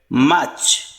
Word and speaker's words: March: In British pronunciation, R is silent here. March.